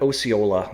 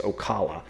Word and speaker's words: Ocala: I called it Osceola last time, and he's saying it's Ocala. So we're going to go with Ocala.